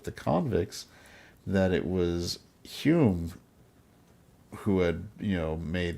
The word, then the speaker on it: Hume: convicts that it was Hume who had, you know, made the success possible. Who's your source? I can't say. But let's say that his name rhymes with prune.